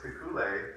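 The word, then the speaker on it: Kekulé: So anyway, this, I apologize, the most pronunciation of it is, but August Kekule, that's how you pronounce it, he had a daydream.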